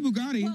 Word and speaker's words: Bugatti: mess that one up a Bugatti it's a Bugatti I didn't there are other words attached to